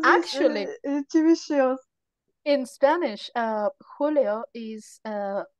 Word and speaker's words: Julio: It's because I believe it actually in Spanish we write Julio like with a J and we pronounce Julio.